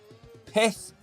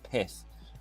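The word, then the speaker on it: Pyth: Pith, which I've apparently been told I pronounce it Pi. It's Pith.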